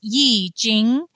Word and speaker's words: I Ching: language is very difficult I think it would technically be pronounced Yi Jing but I'd probably get corrected by a Chinese person right it's written in